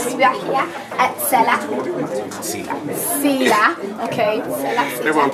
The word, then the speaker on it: Selah: And under the Hebrew, it is pronounced Selah.